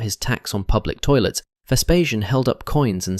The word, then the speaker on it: Vespasian: Let's talk about Vespasian, pronounced Vespasian.